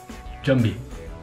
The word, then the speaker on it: jumbie: Jumbie. Good pronunciation. Jumbie.